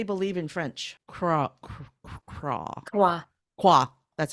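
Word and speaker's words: croire: Croix. That's how you pronounce it.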